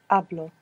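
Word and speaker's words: hablo: to them to speak to speak began with a silent h i don't know if you remember this verb good so how do you say I speak ablo ablo how would you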